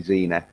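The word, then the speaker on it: Xenia: and frankie janssen as xena on the top even though it's spelled with an x it is supposed to be xena oh pronouncing it and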